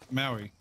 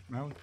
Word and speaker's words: Maui: Maui. Is it Maui? Stop. Wait, is it Maui? Maui. Oh, okay. Am I pronouncing it right? Is it pronounced? You're welcome. Like, is it pronounced like the rock?